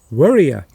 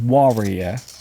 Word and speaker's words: worrier: So a person who worries, not warrior, that's a different word. So there is a difference between warrior and worrier. Worrier. So it's a slightly different pronunciation.